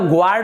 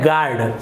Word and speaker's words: guard: दिख रहा है GUARD, तो आप इसे ग्वार्ड, इस प्रकार से जी के बाद UR, तो ग्वार्ड उच्चारण आप नहीं करेंगे, इसका सही उच्चारण होता है गार्ड। तो यहाँ पर आपका जो U है वो यहाँ पर साइलेंट है, ये हो गया गार्ड।